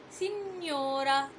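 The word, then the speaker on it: signora: في حاجه مهمه جدا جدا جدا، الجي لو جه وراه حرف الان بنطقها ني ني ني، يبقى على طول اول ما تسمع ني بتكتب جي ان، زي مثلا اما اقول سينيورا سينيورا، وزي ما خدنا في المقاطع نيومو نيومو كانت جي ان.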